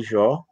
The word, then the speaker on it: Jó: Jó, em português é Jó. Ou Iov, em hebraico, ou alguns colocam Job.